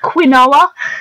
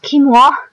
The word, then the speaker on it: quinoa: For some rice, I think it's basically how we pronounce quinoa, but apparently it's pronounced quinoa.